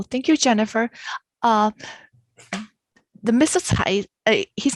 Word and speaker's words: Cai: Tsai, his name is actually pronounced as Tsai.